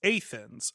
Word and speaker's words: Athens: He said, "Everyone I know pronounces Athens Athens up here. It's just how they do it in upstate." I was like, "Okay."